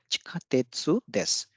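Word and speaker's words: 地下鉄です: यहाँ पे देस भी है इसके आगे, तो यहाँ पे सु डिवाइस नहीं होगा, बल्कि जो अंत में जो देस है, देस में जो सु है वो डिवाइस हो जाएगा।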